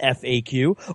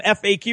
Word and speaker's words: FAQ: FAQ is pronounced as either an initialism, FAQ, or an acronym. Since the acronym FAQ originated in textual media, its pronunciation varies. FAQ, facts, and facts are commonly heard.